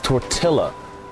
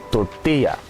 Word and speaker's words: tortilla: mean it's a nice place um people who pronounce tortilla as tortilla that pisses me off to the utmost there's